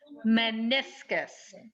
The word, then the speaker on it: meniscus: that with me please meniscus it's kind of a strange word with a funny spelling but it's pronounced pretty much like it's spelled men is gus meniscus